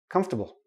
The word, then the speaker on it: comfortable: Comfortable. Comfortable. Comfortable. Okay? We don't pronounce the or.